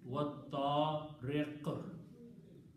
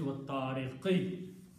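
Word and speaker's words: والطارق: At the end it is wat-ta-riq. Okay, first one is still was samai because you're not stopping there, but on the second one you are stopping, so you're pronouncing wat-ta-riq. Otherwise, it's wat-tariqi. Okay, and so Allah subhanahu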